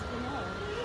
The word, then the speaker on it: Chanel: Yung Chanel paano i-pronounce? Chanel.